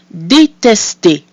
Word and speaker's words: détester: So we have our I with the accent aigu, which is pronounced E. We have I followed by two consonants, which is pronounced E. And finally, because this is a verb, the ER at the end is pronounced E. So that gives us détester.